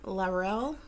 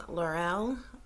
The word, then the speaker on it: Lierl: So I believe his last name is pronounced Lierl, okay, Jason Lierl.